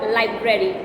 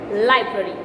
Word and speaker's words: library: How do you pronounce it? I've heard people saying library. It's neither library nor library. It's library. You don't need to open your mouth that much.